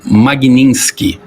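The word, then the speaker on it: Magnitsky: É, a lei se chama Magninski. Ela e Magninski, ela vem de um de um advogado Sergei Magninski.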